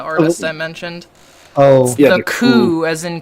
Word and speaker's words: The Coup: someone else featuring and they pronounce the coup as the coupe which is really weird because they they go with the coupe in here which is really interesting because boots Riley who's kind of the main like Lyricist and vocalist of of the group um always pronounced it as the coup in like their early work and it was just